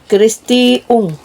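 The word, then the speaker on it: Christi Ung: Kristi Ung Christi tulisannya kayak gitu ya. Tapi bacanya mesti kristiung gitu, Bun.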